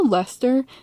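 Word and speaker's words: Leicester: in cornwall or lesser let us know also lester the way it's pronounced is does not look like the spelling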